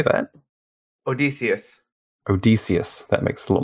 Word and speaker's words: Odysseus: you see that how do you say that Odysseus Odysseus that makes a lot more sense or